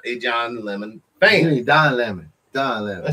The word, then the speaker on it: Don Lemon: You know, John Lemon, which everyone knows I am not a John Lemon fan. Don Lemon.